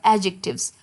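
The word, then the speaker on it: adjectives: D silent होता है, सो एडजेक्टिव्स।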